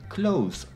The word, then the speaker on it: clothes: native speakers sound stupid drop the th and pronounce it like clothes as in close the door good advice first of